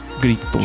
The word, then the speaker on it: Grito: Grito. Trying to learn the O sound at the end of Portuguese where it's like an oi or something.